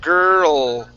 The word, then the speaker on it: girl: So your tongue goes up and touches the top of your mouth, and that's how you pronounce that L.